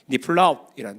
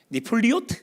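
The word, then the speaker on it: נפלאות: 니플리오트 뭐 이렇게 니플리오트 뭐 이런 식으로 발음을 해요. 근데 이게 이제 정확한 발음은 니플라웃이라고 말하는 게 훨씬 좋은 발음이에요. 그러니까 니플라웃이라고 말해요.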